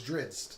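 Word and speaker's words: Drizzt: And we were getting I keep saying his name wrong. It's Drizzed. It's Drizzed.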